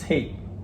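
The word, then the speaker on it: heet: Yeah, like you pronounce it the same way. You spell it different, so it's H-E-E-T, but it's hate.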